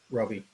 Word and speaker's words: Roby: We have, I think it's pronounced Roby, is there Robbie? Yeah, Roby. Roby, Yeah. from, it's Credit Repair Services, I believe.